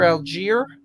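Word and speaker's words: Allgeier: ike finishing up his 11th round pick tyler algiere and yes ike that's how it's pronounced dawson knocks over cole comet ike how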